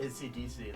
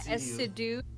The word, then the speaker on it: Essiedu: I always pronounce it ACDC, like, but oh yeah, Essiedu.